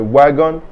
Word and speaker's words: wagon: Wagon means a wagon or a rail car in English. Notice that I say wagon. You remember that W is W, so wagon.